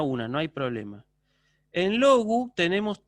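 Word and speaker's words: λόγου: Ahora, en el caso de logu, también no hay problema, digo logu, ¿sí? Logu. Un poquito más agudo suena el acento.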